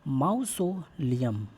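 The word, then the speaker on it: mausoleum: आगे है, आप वर्ड का प्रोनाउंसिएशन ऐसे करें जिससे कि आपको वो स्पेलिंग टेस्ट में भी काम आए। माउसोलियम, माउसोलियम जिसका मतलब होता है समाधि।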